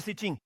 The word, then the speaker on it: Sitim: Vamos garantir que estamos pronunciando corretamente Sitim.